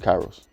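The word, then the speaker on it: K8IROS: I don't want to say wrong oh I pronounce it Kairos Kairos yeah and that's the name of the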